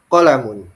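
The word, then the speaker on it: قَلَمٌ: adalah sebuah buku ya H qolamun tidak boleh panjang H qamun nah ini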